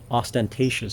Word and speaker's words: ostentatious: the word syllable but things like ostentatious for example where this where the accent goes on the third syllable or things like magnanimous